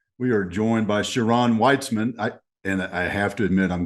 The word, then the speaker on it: Weitzman: The German way is exactly how it's pronounced in Israel. It is pronounced Weitzman, Ah, but American English, English uh, speaking, it's Weitzman. there we go. But in Germany and in Israel, it's Weitzman.